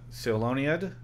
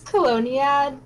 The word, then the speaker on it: Coloniad: Seloniad, is that how it's pronounced? It's Coloniad, but don't worry too much about it.